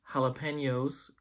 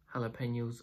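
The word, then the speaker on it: jalapeño: red but some say jalapenos are green in terms of pronunciation jalapeno jalapeno the Jay in the beginning of the word is not pronounced like a Jay but like it like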